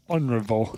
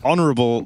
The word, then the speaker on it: honorable: The H is silent. Honorable. Honorable Broki.